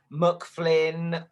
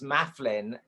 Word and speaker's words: Maflin: yes, because well many reasons, but when I first started, everyone got my second name wrong. They called me McFlynn or Muslin or Maslin, and it was Mafflin.